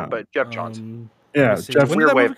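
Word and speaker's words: Geoff Johns: Jeff Johns. Yeah, I always pronounce Jeff it wrong, John. But Jeff Johns.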